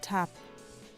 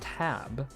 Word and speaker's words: Tab: Like the German devoices the B. So for anyone wondering what that means, think of how you pronounce the letter B in English and the letter P in English. They both are pronounced at your lips. The B, the P. And what we hear here is not tab, where we pronounce that, or we vibrate our vocal cords in order to make the B sound. But they pronounce it as tap.